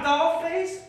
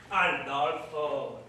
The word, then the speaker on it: Adolfo: Not Adolphus! Adolfo! You must remember my name for when we are making love, and you must say it right.